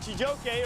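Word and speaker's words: Chijioke: You guys know how to remember how to say his name? I'm going to get you. It sounds like I'm going to get you. And Chijoke, or as they call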